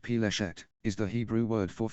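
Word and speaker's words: פלשת: The term, pronounced Peleshet, is the Hebrew word for Philistia, the land associated with the Philistines in ancient times.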